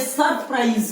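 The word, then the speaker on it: surprise: रामू बता, एस का उच्चारण क्या हुआ? उच्चारण का मतलब है आप मुंह में से क्या बोल रहे हो, इसको ध्वनि आवाज कैसे निकल रही है? सरप्राइज। क्या? बैठ जाओ। मतलब नहीं, इसका उच्चारण क्या हुआ? इसकी आवाज क्या निकल रही है? ज।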